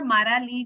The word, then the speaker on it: Maralí: My name is Marley Gutierrez, as Ashley said, or Maralí Gutierrez, if you can roll your R's, but you don't have to.